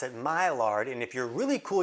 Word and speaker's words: Maillard: you would pronounce it Maillard and if you're really cool, you would know the D is silent and you would just say Maillard.